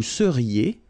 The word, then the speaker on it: seriez: Vous seriez. So here when you have when you've got this EZ at the end, then you get the sound E. Seriez. So vous seriez.